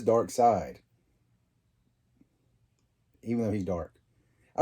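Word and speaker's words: Darkseid: Dark Side or Dark Seed, depending on how you pronounce it. At first, I was calling him Dark Seed, but I believe it is Dark Side.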